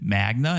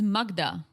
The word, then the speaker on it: Magda: I could understand him thinking, oh, maybe she said Magna and he just went with it. But he could see your name spelled out. Yeah, plus I'm sure she pronounces it. She says Magda.